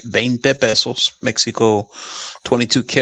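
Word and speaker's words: veinte: I had it made out of a 20 or a bent pesos. I've got to say it right. Bente pesos Mexico 22 karat.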